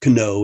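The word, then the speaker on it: know: night for the and the word no k-n-o-w they used to be pronounced cano and k-knight and stuff apparently the pronunciation changed but the but the spelling remained actually used to be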